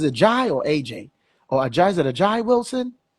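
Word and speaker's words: A'ja: I don't know if it's a Jai or AJ or a Jai. Is it a Jai Wilson? How you pronounce her Oh, name?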